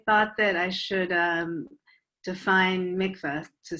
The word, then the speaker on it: mikveh: mikveh with an E, M-I-K-V-E-H, because that's, in Hebrew, that's mikveh, like a mikveh mayim. Mikvah, how a lot of people spell it in English in America, is not really correct.